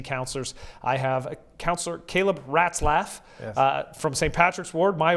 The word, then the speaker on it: Ratzlaff: Ratzlaff and mice giggle. Ratzlaff.